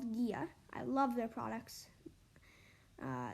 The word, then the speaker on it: Ghia: just go to drink Gia on Instagram and and Gia is spelled g h i a drink GIA one word